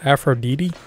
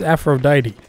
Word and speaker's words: Aphrodite: promise okay I'm sorry how did you pronounce that afro DeeDee its Aphrodite alright learn the English